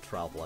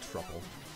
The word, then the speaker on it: Troupple: best pronunciation of Troupple I've ever heard, though. I always said, like, Truple, because I'm bad at words. I mean, Troupple sounds better, but I mean, it's a trout and an apple.